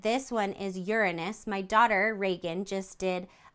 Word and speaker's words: Uranus: out to Reagan and I know that it's pronounced Uranus that's all I'm going